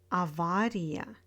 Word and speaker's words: авария: In words with iya, iye, stress falls on the syllable before iya and iye. Компания, авария, ударение, исключение.